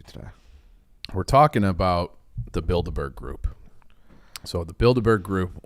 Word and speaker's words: Bilderberg: We're talking about the Bilderberg group. So the Bilderberg group, what? It's in like I'm like Harry. The way it sounds like the Build-A-Bear thing in the mall.